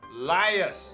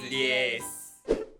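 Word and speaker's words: liaise: I think that's the only pronunciation I've heard people say. - 'Liars'. - 'Liars'. - 'Liars'. - 'Liars'. - It's 'lee-aise'.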